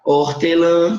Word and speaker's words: hortelã: A palavra hortelã, que é feita com H, mas tem som de O.